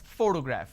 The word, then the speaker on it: photograph: So in this case, this particular word has 3 syllables and I pronounce this as photograph, which means I'm stressing on the first syllable.